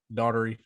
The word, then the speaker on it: Daughtery: Yeah, I pronounced it wrong. He let me know Daughtery was it.